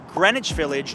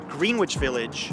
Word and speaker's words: Greenwich Village: explore is this one pronounced Greenwich Village not green witch Village and if you go